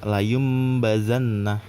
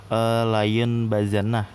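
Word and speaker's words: لَيُنْبَذَنَّ: Layum bazannah. Nah jadi itu kan harusnya kan layun bazannah. Tapi karena ini ada iklab, jatuh kena hukum iklab karena ada nun sukun, setelahnya itu ada huruf ba, jadi layum bazannah gitu.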